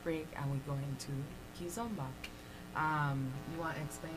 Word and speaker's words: kizomba: that okay yeah okay most people say kizomba but it's kizomba the zumba which is the zumba fitness right and then there's ki